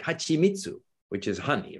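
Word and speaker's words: はちみつ: But if you're writing your transliteration system for a non-speaker, then it should be hachimitsu, because that's how it's pronounced.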